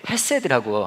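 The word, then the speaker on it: חסד: 제가 그래서 여러분에게 이거 읽는 법을 알려드릴 건데, 이게 이제 헤세드라고 하는 말이에요. 이게 헤세드인데, 그냥 헤세드라고 하면 맛이 안 살고요, 이거를 이제 발음할 때는 가래를 좀 끓여야 됩니다.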